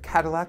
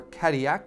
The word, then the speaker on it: Cadillac: bordeaux this is coming from the area of cadillac or cadiac as it's pronounced in france the chateau itself was built